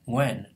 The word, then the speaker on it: Nguyen: And then the very common Vietnamese word nguyen doesn't seem like it's that hard, but we're not used to pronouncing a nga at the beginning of a word, nguyen, nguyen.